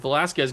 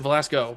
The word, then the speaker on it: Velasco: Is that Velasquez gets a natural pick there and he opens up a lot of space. Did I say Velasquez? Velasco. I always get his name wrong because I'm stupid is why.